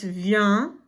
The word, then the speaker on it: vient: So make sure you notice that over here it's vient, and it's a nasal sound.